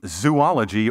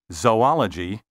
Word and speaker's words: zoology: vehicle and herb and don't say zoology or zoologist as if these words had three O's say zoology and zoologist also don't pronounce the